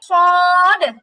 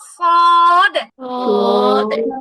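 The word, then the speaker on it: ص: জিহ্বার আগা নিচের দুই দাঁতের পিছনে, জিহ্বার আগা নিচের দুই দাঁতের পেছনে, সদ। হ্যাঁ, উচ্চারণটা মোটা হবে, সদের উচ্চারণটা মোটা হয়, সদ, সদ, সদ।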